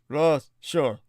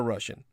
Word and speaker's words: Russia: an sound, known as a schwa. We say, Russia. Russia. This sound does not exist in either Ukrainian or Russian, whose speakers sometimes have a difficult time knowing where it belongs and how to pronounce it.